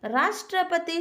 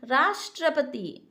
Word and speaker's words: राष्ट्रपति: Examples हैं, राष्ट्रपति शब्द का उच्चारण करते समय रा पर बल पड़ता है, यानी राष्ट्रपति, यानी रा पर ज़्यादा बल पड़ रहा है, रा का उच्चारण थोड़ा लंबा हो रहा है, राष्ट्रपति।